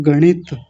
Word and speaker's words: गणित: Example देख लीजिए, जैसे एक शब्द होता है गणित, तो जब हम गणित बोलेंगे तो जीभ ऊपर जाएगी और मूर्धा से जाकर के टच होगी जब इसका उच्चारण होगा। ग के बाद जब ण की आवाज आएगी, गणित, तो तुरंत इसी का आवाज आएगा।